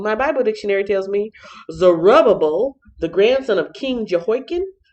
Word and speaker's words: Zerubbabel: about 60 years later zerubbabel yes that's how you pronounce it at least that's what my bible dictionary tells me zerubbabel the grandson of king